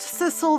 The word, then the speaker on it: Sissel: Oh, it is pronounced Sisle.